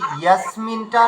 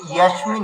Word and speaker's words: यस्मिन्: পরিমার্গিতব্যম, তারপরে এই যে ইয়াসমিনটা না, এটা ইয়াসমিন হয়ে গেছে আপনার, মানে তালু স্বরের উচ্চারণ হয়ে গেছে, এটা ইয়াসমিন হবে। একবার বলুন ইয়াসমিন। ইয়াসমিন ইয়াসমিন, ইয়াসমিন দন্ত স্বরের উচ্চারণ হবে।